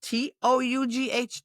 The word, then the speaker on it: tough: No, because that would make sense, and this is English, so, we pronounce T-O-U-G-H tough. Tough. Now the O and the oo become a uff. Uff? Yeah, uff. It rhymes with stuff.